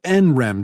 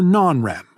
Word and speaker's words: NREM: between rem sleep and n-rem sleep which you can pronounce nrem or non-rem rem comes from the